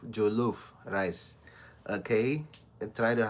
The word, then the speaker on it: Jollof: Jollof is spelled as um j o double l o f. Okay. Jollof. Jo lof. Jo lof. Jo lof. That is um that is the um the vowel sound Jollof.